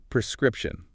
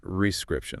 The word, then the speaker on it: prescription: notice how the stress is on the second syllable and make sure you get that P sound at the beginning prescription not rescript that's a good point all right how about